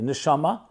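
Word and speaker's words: נשמה: They're just pronounced differently. Neshama is soul. Neshima means breath.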